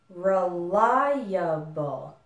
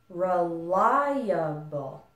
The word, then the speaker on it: reliable: total of four and the stress is still on the syllable ly reliable reliable reliable make sure that it's clear this distinction between the ly and uh some students kind of combine those two syllables together and then the word sounds strange you want to even though you say it fast you still want to make the syllables clear reliable reliable reliable okay